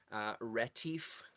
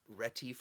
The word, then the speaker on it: Retief: this Keith Lauver z' ret 'if i think his rape ret 'if i think is how they said you pronounce it and wanted to touch